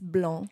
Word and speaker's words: blanc: the one word is blon and it's pronounced blon it's a nasal sound the A and the N are combined blond and the C is never never never pronounced so it's not s